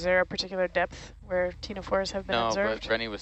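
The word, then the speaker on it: ctenophore: not know what a tina four is you might also not know that it is spelled with a silent c i did not know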